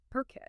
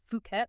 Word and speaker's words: Phuket: And just so we're clear, right from the start, it's pronounced perket. Yeah, not fukquet.